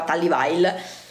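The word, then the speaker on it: Tally Weijl: reperibile, a meno che Tallywhile o Tallywhale, io non so come si pronunci correttamente, penso Tallywhile, perché mi ricordo che le ragazze che lavoravano all'interno del negozio mi dicevano che si diceva Tallywhile.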